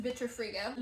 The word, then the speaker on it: Vitrifrigo: So this refrigerator is from the brand, I believe it's pronounced Vitrifrigo.